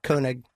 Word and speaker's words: Koenig: same cast member, Sarah Koenig. Sarah Koenig. Or Koenig, it's pronounced Koenig. like Matt Groening.